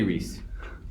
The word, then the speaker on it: Riesz: It's Riesz. Get rid of it. But it is pronounced. It's definitely Riesz, but I guess it's IE.